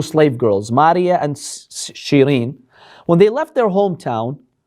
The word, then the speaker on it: Shirin: Sirin is actually Shirin. Her original name was Shirin, but the Arabs would pronounce it as Sirin.